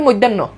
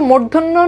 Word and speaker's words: মূর্ধন্য: প্রথমটা মূর্ধন্য নতে কোন ডাউট আছে মূর্ধন্য ন্যা উচ্চারণ আমরা এগুলো বলি মৈধন্য কেউ কেউ বলে মৈধন্য কেউ বলে মূর্ধন্য না এটার উচ্চারণ হচ্ছে মূর্ধন্য ন আর এইটার উচ্চারণ কি এটার উচ্চারণ হচ্ছে